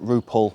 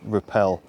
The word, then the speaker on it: Roupell: Some pronounce it Rupole, but most of us all know it as Repel.